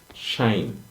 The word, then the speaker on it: sinh: sign and H but generally is pronounced shine right so you um